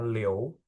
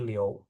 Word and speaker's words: Liu: Ah ada orang marganya Liou Liu misalnya apa-apa liu misalnya. Itu sebenarnya bacanya Mandarinnya Liou ya. Liou gitu bukan Liu tapi Liou.